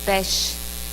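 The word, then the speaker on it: Pessach: o dia da páscoa pasqual é uma palavra que em hebraico significa que é pronunciado como feche significa passagem então que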